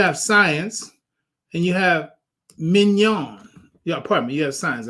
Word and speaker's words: mignon: do you say that have you ever had filet mignon you ever have filet mignon that's that's mignon all right so I'm